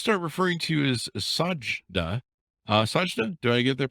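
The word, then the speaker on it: Sajidah: and i'll just start referring to you as sajdah do i get their pronounced right yep are you your first name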